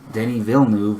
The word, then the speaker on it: Denis Villeneuve: And then a lot of people were throwing on Denis Villeneuve, which that's how you pronounce his name.